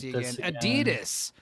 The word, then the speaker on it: Adidas: But let me let me be every every European I met in DC it's Adidas. Yeah. Adida is another way they pronounce it. They don't pronounce the S which is fun to say but Adidas is also fun to say.